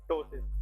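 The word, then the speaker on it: ptosis: इसमें P silent है, that is called टोसिस।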